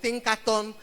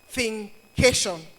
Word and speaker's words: Thinkation: You know, people have pronounced Think in different ways. I've heard Think Nation. I think I've heard thinkation I've heard all sorts of thinkaton but is a creative measure of thinking and education thinkation and um this theme